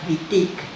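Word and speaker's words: Monique Wittig: mon bitic Monique vitic escríbanlo con w pero como es francés lo pronunciaban con b corta lo pronuncian con b corta vitic Monique vitic pertenecía al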